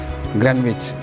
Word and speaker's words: Greenwich: Spelling is green, but you must spell or pronounce Greenwich.